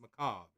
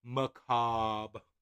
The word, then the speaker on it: Macabre: Macabre. Macabre. I like adding the little bit of the flick of the R, only because it's there.